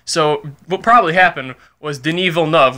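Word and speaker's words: Villeneuve: what probably happened was deneva love which is I believe how you pronounce the director's name he says Canadian guy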